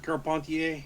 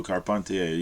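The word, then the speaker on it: Carpentier: How do you say his name? Zeus. Edward Carpontier. There you go. Carpontier. Yeah.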